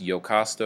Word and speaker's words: Iocasta: Oedipus, the king of Thebes, Iocasta or Iocaste or Jocasta, depends on your pronunciation preference. I prefer Iocasta.